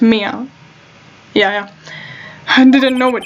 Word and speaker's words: Mia: Mia, it's pronounced Mia.